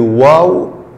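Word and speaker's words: واو: Et la lettre suivante, c'est le waw. Waw. Waw. C'est comme 9. Waw. Et la prononciation, c'est ou. Ou. La prononciation, c'est comme ou.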